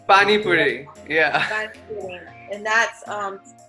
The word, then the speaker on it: Pani Puri: And the bani pudding, is that how you pronounce it, right? Pani Puri, yeah.